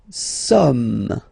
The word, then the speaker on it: sommes: Nous sommes, okay. Nous sommes, okay. So you don't pronounce the final S here. It doesn't exist.